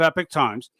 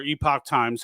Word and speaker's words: Epoch Times: So I'll give you a quick history of Epic Times, all right, or Epoch Times, however you want to pronounce it. I've heard it done both ways.